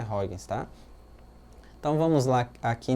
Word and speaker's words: Huygens: Fala Huygens, a pronúncia é Huygens, tá?